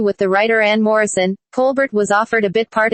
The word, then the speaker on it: Colbert: roles … That’s why I used to say my name Col-bert just as it is spelled instead of Col-baire. I did not want to be typed as ‘that French girl.’" She received critical acclaim